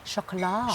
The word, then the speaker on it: Chocolat: Chocolat. Chocolat. Chocolat. No E on the end. No, we Don't pronounce that T.